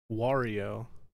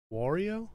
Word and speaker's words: Wario: weird to me wario how do you say it wario like mario that feels like work because i have to actually work my mouth that's how i naturally do mario wario you know mario wario luigi see this